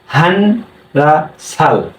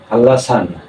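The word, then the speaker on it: 한라산: এখানে রিউল, এই দেখেন, তো উচ্চারণ কি হওয়া উচিত ছিল হান রা সাল, কিন্তু যখনই নিয়ন বা সিমের পরে আবার রিউল হয় তখন এটা কি উচ্চারণ হয়, লতে উচ্চারণ হয়। তাহলে আমাদের কি উচ্চারণ হবে হাল, হ্যাঁ সরি, হাল লা সান, হাল্লাসান।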